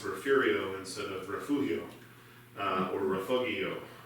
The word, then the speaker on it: Refugio: And the answer is you had Irish settlers there who spoke Gaelic, and when they tried to pronounce it, they added in an R. So Refugio.